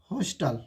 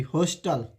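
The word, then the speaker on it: hostel: हॉस्टल। Sorry, हॉस्टल।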